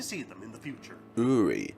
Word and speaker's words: Uri: Uri. So that's how you pronounce the name. Uri. Sorry, but I keep saying Uri.